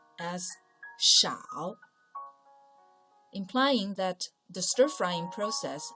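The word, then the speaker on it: 少: part by itself means little or few it's pronounced as shao implying that the stir-frying process only takes a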